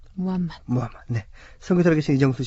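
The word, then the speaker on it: محمد: 코란의 아랍어 발음은 꾸란이 그리고 또 마오메이 아르버 발음은 무하마 무하마네 선교사 계신 이정수 씨 모셨습니다 반갑습니다 안녕하세요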